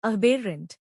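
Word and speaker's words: aberrant: इसका प्रोनाउंसिएशन है अबेरेंट।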